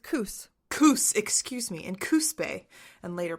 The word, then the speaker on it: Coos: Yeah, it's pronounced Coos.